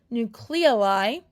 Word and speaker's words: nucleoli: There's also nucleoli in the nucleus. You will see that word pronounced a lot of different ways, but nucleoli or nucleolus.